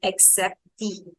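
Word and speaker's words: acceptée: Acceptee, that's how we pronounce it. So here the first C will have the sound of K only and the second C will become S. That is what same as English. The second is KS.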